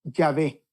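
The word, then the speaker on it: Yahvé: don ahí lo que dio una pronunciación semejante a jehova o más correctamente dicho ya ve así la forma latinizada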